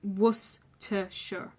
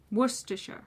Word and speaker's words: Worcestershire: but it is pronounced Worcestershire. Worcestershire. And the ending is pronounced sure, not shire.